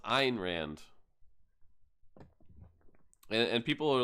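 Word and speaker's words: Ayn Rand: Atlas Shrug that lady everybody always says uh an Rand an Rand but actually her her name is pronounced Ein Rand and and people are like what iron ran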